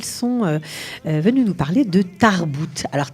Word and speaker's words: Tarbooot: Et ça nous fait plaisir parce qu'elles sont venues nous parler de Tarbout. Alors Tarbout, ça s'écrit T-A-R-B-O-O-O-T avec 3 O.